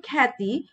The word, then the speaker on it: খ্যাতি: এরপর দেখো যে জফলা যুক্ত ব্যঞ্জনের সঙ্গে আকার বা আ ধ্বনির উচ্চারণ প্রায় ক্ষেত্রে কি হয়? অ্যা হয়। যেমন দেখো যে এখানে যেহেতু জফলা যুক্ত আছে এবং আকারও আছে, তো উচ্চারণ কিন্তু খ্যাতি, ব্যাপার, ত্যাগ এবং ব্যাকরণ।